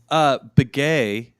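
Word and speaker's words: Beghe: Begay, that's how I have always heard it pronounced.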